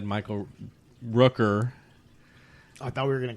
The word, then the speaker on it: Michael Rooker: Can you believe this guy called me Michael Booker? I said Rooker.